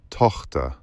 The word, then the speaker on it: Tochter: Tochter. Alex, you need to push the chi-h harder. It's probably a tough sound for Koreans. The chi-h and the r.